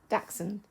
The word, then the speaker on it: dachshund: on you pronounce it dachshund so that's two syllables that's really convenient you